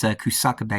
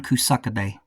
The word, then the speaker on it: Kusakabe: all about Sonon Kusakabe, which that's how you pronounce it, is Kusakabe, because he says it in the DLC when he introduces himself. So yeah, Sonon Kusakabe.